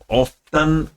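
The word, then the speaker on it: often: सिंग ऑफन ऑफन बोला जाता है। टी इसमें साइलेंट रहता है।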